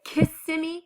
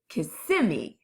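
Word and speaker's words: Kissimmee: kind of laugh because we know we pronounce it kissimi which means the accent of the word is on the middle part kissimi not the beginning kissi that kind of sounds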